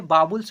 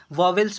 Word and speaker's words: vowels: बहुत ऐसे टीचर हैं कि बोलते हैं कि वॉवेल्स पढ़ने को, नहीं आप बाबुल्स बोलिएगा, ठीक है। वह गलत उच्चारण हुआ, वॉवेल्स, वॉवेल्स गलत ही उच्चारण हुआ, बाबुल्स एक राइट उच्चारण हुआ।